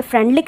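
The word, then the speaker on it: Freundlich: कम किया जाता है, यहाँ पे आपको प्रोनाउंस अलग अलग बुक में अलग अलग मिलेगा, कहीं पे ये फ्रेंडलिक रहता है, कहीं पे फ्रेंडलिच रहता है, तो कंफ्यूज होने की ज़रूरत नहीं है, बोथ आर सेम।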